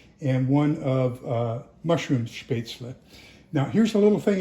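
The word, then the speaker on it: Spätzle: Uh in German everything is pronounced as it is written.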